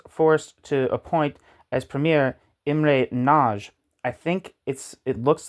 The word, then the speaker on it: Imre Nagy: In Hungarian, his name is pronounced Imre Nagy.